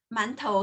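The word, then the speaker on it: 馒头: เส้น ๆ นะคะ อ่าน ว่า หมา น โถ หมั่นโถว หมั่นโถว กัน และ คน ไทย อ่าน ว่า อะไร คะ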